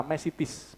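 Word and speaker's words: μεσίτης: Pengantara, ini di Alkitab disebut pengantara, mesitis, bahasa Yunaninya. Mesitis, tulisannya mesites, bacanya mesitis, karena E-nya ita, I banyak.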